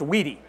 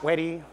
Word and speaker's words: wedi: Where do I get the Weedy name? Stefan Weedy, it's a last name. Family business. So that's what it is, but that's the last name. And it is pronounced Weedy, not Weddy, Weedy.